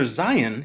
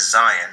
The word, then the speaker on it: zayin: The letter Zayin is pronounced like Z in zebra.